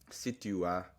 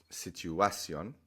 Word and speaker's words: situación: So, in English, situation, the natural stress is on that A. Situation. But in Spanish, they're basically telling you not to do the natural thing.